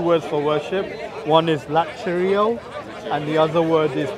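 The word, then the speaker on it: λατρεύω: Latrio. How you say it? The U becomes a V when it's when it has a vowel after.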